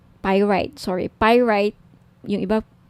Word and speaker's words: pyrite: now if gusto niyo ng bracelet ito yung pirate pyrite sorry pyrite yung iba pronunciation pirate pyrite Okay 1,980 each may may